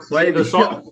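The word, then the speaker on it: Klaviyo: I'm assuming she's doing like I can't never pronounce the name. Clavio. Latifa. No. Oh, Clavio.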